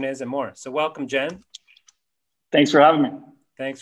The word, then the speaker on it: Cem: First question I alluded to in the intro there, your name is spelled C-E-M, but it's pronounced more like, with a J, Jem, that's the handle.